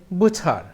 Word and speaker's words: butcher: এখানে কিন্তু টির উচ্চারণ হবে না, তার প্রনাউন্সিয়েশনটা হবে বুচার।